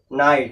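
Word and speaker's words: night: क्या पढ़ते जी ब्राउट अब इसे क्या पढ़ेंगे नाइट क्योंकि जीएस बनने बता साइलेंट हो नाइट पढ़ेंगे क्या पढ़ेंगे नाइट अगर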